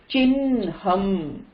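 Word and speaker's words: चिह्नम्: Although you write h with a n inside, Chinham அப்படி pronounce பண்ணணும்.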